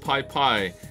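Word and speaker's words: Pipi: the nicarugra uh and pp is pronounced pie pie it shares the name with a water weed there pie pie river okay lots more places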